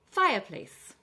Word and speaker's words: fireplace: Fireplace. Again, two syllables, stress on the first syllable.